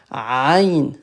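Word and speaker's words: عين: Ça, c'est une lettre qui n'est pas facile à prononcer. C'est la lettre Ain comme Aïa ain ain ain ok a comme ça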